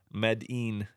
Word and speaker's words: Medin: what it is but that I turns into e it's pronounced e and I don't know why it's pronounced e but it is so medine so interesting fact when